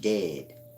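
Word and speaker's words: djed: egypt you got the dejade spiral-like they're speaking of that jay is silent the jed is just dead the dead that's beneath the sacrum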